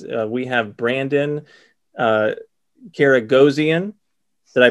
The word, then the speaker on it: Karagozian: collector convo series uh we have brandon uh karagozian did i pronounce that right brandon is that right we